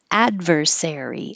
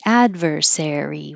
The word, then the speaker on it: adversary: l position withdrawal adversary i had to stop and second guess myself so i didn't pronounce it with stress in the wrong place like i usually do adversary adversary one two three four